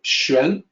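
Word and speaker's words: xuán: this character shin so the pinion looks a little exotic spelled with an X but in reality the X sounds like sh so Shen it means mystical mysterious difficult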